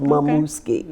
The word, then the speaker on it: Momuski: It's spelled the same way it's pronounced. Momuski.